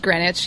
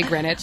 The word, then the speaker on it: Greenwich: It's pronounced Greenwich. Yeah. Okay. It should be East Greenwich, but we just say Greenwich.